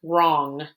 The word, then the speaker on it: wrong: is the w r when we see w r the w is silent and the r makes the sound like in the word wrong wrong is spelled w